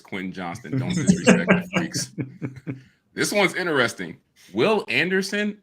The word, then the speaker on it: Quentin Johnston: can say his name you're wrong it's Quinn Johnston this one's interesting Will